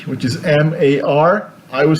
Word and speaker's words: mar: So people say the word for C, which is M-A-R, I would say mar. Okay, the R would be in the tongue, mar.